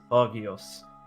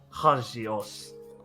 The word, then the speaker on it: Hagios: Bogios. Bogios Ivory. Well, nice to meet you, Bogios. Ugh. Sorry if I'm mispronouncing that. Hog e Hagios. Hagios. Pretend there is J in it.